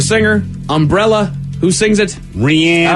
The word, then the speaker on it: Rihanna: Rihanna. Oh, Rihanna. Correct. It is Rihanna. Thank you, Miles. I will not say it. Only Miles cares on that one. I'm classy. I call her Rihanna.